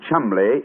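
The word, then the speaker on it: Cholmondeley: yet no reason to know that the name Chumley is in no way pronounced the way it is stuffed into an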